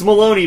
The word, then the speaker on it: Maloney: Or No, it's it's Maloney, but it says something on the sign and that it like rhymes with baloney or something.